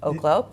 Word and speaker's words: Oklo: We're taking a look at airlines, Delta and American specifically, Uber and Aklo Oklo. Markets and data editor Jared Blikre joins me now. We were just debating the pronunciation is indeed Oklo.